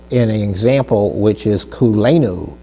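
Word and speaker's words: כולנו: Let's take a look at that in an example, which is kulenu. Kulenu, that almost sounds like a Hawaiian word, doesn't it?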